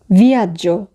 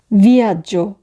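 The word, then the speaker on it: viaggio: ভিয়াজ্জো, ভিয়াজ্জো, ভ্রমণ, জার্নি। ভিয়াজ্জো বানানোর ক্ষেত্রে যেটি খেয়াল করব সেটি হচ্ছে সবার শেষে আছে GEO, তো সেক্ষেত্রে উচ্চারণ হবে জ, আর GEA থাকলে উচ্চারণ হয় যা।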